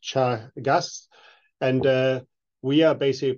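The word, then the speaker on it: Teagasc: of an organization called Chagas is an Irish word it's pronounced Chagas and uh we are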